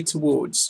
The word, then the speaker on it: towards: Please remember, say towards, just as if it rhymed with boards.